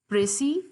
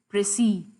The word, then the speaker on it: precis: I always tell you that they are for a long vowel sound so it is press E and press E okay so one is American and one is British and there is a third pronunciation rather the original pronunciation of the term because this term is not English this has come from French into English and how it is